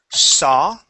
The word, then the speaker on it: saw: Let's take a look at the word saw. Okay, remember when we have the AW together, it would not be saw, but only an aw sound.